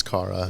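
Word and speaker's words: Kara: That's how you pronounce her name. Is it Cara? Yes, it's Cara.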